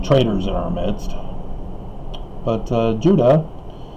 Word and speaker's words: Judah: But Judah, it's an interesting phonetic spelling, pronunciation, because it's not Judah, it's Judah. It's a Y from Hebrew with the yod.